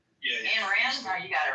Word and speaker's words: Ayn Rand: Did I spell it right? Yeah. Ayn Rand? No, you got it right. No, you got it right. It's Ein. Ayn Rand.